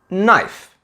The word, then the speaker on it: knife: Words like know, knowledge, knee, knife. In these words, we don't say the 'k' and we only say the 'n'.